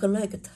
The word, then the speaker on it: collect: Đọc là collect. Ở nhà âm đây của cô cũng là ơ, hai anh ơ rồi.